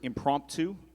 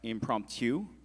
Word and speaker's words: impromptu: Krish, your word is impromptu. It could also be pronounced impromptu or impromptu.